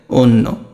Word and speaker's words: অন্য: ও হয়ে যাবে, কোনটা, এই যে দেখো অন্য, এটা তুমি উচ্চারণ করো, এটা কেমন হবে, অন তারপরে নো, অন্য, এই অর কারণে এটা তো ও হলো।